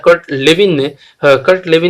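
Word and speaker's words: Kurt Lewin: क्षेत्रवादी सिद्धांत ये किसने दिया, ये दिया गिवन बाय कर्ट लेविन, है ना, या कुर्ट लेविन भी इसको कुछ प्रोनाउंस करते हैं, लेकिन ये कर्ट लेविन है ना।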